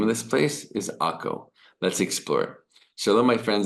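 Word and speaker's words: עכו: In Hebrew, we say Akko.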